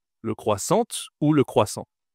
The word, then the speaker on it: croissant: Et est-ce que je dois dire le croissant ou le croissante ? Le croissante ou le croissant ? Bien sûr, ici je ne dois pas prononcer le T. Je dois dire le croissant.